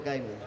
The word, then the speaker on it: Gaiman: Matt Damon? Neil Gaiman. It rhymes, but different careers.